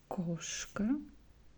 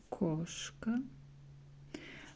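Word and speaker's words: кошка: cat and um here we also see a but uh stressed w o here is O so we pronounce koska koska we also hear here uh here the letter um but um it's like a little bit reduced so it's like a half of this letter so it's like Kos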